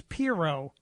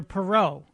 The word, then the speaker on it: Pirro: First of all, she's not related to Ross Perot. Her name is Pirot. You're calling her Perot.